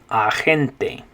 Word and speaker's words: agente: But instead of saying it, agent, you say it agente. Agente.